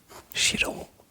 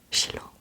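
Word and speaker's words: shiro: Chiron, Chiron, Chiron, Chiron, Chilo, Chilo, Chilo. Ça s'écrit S I r o giron. Giron. Parce que S I et Chi, ça fait chi.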